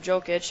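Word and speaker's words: Jokić: And he's going to be, and also Nikola Jokic, I believe that's how you pronounce his name, he has re-signed, and he's like their franchise player.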